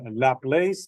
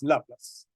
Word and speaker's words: Laplace: French mathematician La CL some people they pronounce this one lap place but the French one is laas that's going to be the one so I'm going to